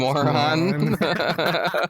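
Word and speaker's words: Mörön: Sadly, it's pronounced Moron.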